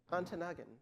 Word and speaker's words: Ontonagon: Or Ontonagon. Yes, thank you. Did I get that right? Excellent pronunciation.